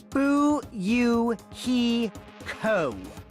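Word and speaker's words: Fuyuhiko: name is kuzey REO my first name is pronounced boo you he Co I'm still in an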